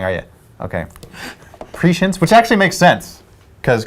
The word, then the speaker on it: prescience: It's pronounced prescience.